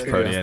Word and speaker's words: Protean: Libero, whatever it's pronounced. Yeah. It's protein. I don't know why. It's Protean.